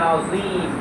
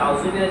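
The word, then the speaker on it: عظيم: এইভাবে নামাজের মধ্যে আমরা অহরহ বলতে হবে, রুকুতে গিয়ে বলতে হবে সুবহান রাব্বিয়াল আযীম, অর্থ হবে আমি ঘোষণা দিচ্ছি আল্লাহ তাআলা সবচেয়ে পবিত্র। কিন্তু আযীমের জায়গায় আমরা মোটা না করে আমরা সোজাসুজি বলি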